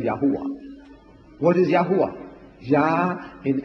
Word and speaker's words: Yahweh: get the J from Jehovah where did you get the J from J is another consonant at the follows it become Yahweh what is Yahweh yah